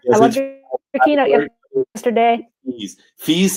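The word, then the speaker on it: Fies: Fees as in niece.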